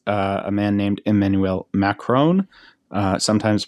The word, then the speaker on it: Macron: Most of you probably know it's a man named Emmanuel Macron, sometimes pronounced Macaroon.